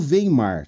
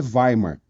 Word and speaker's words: Weimar: a constituição alemã alemã de Weimar ou veimar tá a gente tá a gente fala português você pode falar veimar não vai tá errado tá mas não fala alemão mas me parece que a pronúncia no alemã no alemão é Weimar e essa constituição é